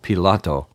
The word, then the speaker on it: Pilate: this chapter Jesus was Tried by pilate or Pilato as I pronounce his name and Herod before finally